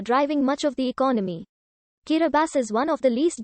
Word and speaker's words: Kiribati: of small island states the pronunciation differs there bti kiribati is the normal pronunciation as t in the gilberti's language represents an s sound the name kirabas was